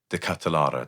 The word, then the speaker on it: De Ketelaere: cross them for De Ketelaere How do you pronounce his name? De Ketelaere, that's it.